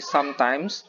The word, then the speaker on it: sometimes: tapi often, and then sometimes, bukan sometime, tapi sometimes, and then seldom, and then never.